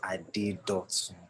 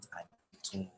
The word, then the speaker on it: Adedotun: My name is Adedotun, not Adetun.